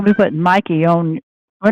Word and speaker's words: Mikey: It's Mikey, not Mickey, ma'am.